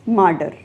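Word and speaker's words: martyr: My next word for today is मार्डर. मार्डर का मतलब होता है शहीद. इसकी स्पेलिंग में टी है बट इसकी प्रोनाउंसिएशन में डी आएगा.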